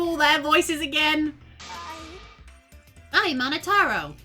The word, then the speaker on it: Monotaro: I'm Monotaro. No matter how you read it or spell it or say it, it's Monotaro.